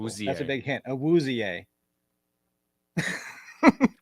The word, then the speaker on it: Awuzie: And he actually pronounces his last name differently than most people with his last name would. Most people pronounce it Awuzie. He actually says his last name is Awuzie.